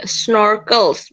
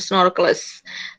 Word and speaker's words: snorkels: Kemudian apalagi snorkels, bukan snorkelers, snorkels.